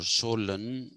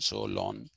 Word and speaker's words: Solon: so long not solomon so lon solon some people say solon some people say so long i think it is so long because greeks have a